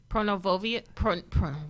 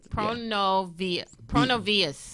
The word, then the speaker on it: Pronovias: You pronounce this because it's Spanish. Pronovia. Yeah, there we go. Pronovia. Yeah, Pronovia. Pronovias.